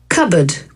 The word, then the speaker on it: cupboard: Ó, como P não é pronunciado.